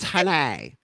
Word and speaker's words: Haney: It's pronounced Hanai.